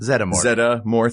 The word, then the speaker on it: Zeddemore: Zeddemore. 3 syllables?